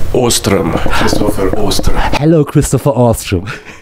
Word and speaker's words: Åström: muss ich das richtig aussprechen, what's the correct pronunciation? Ostrom.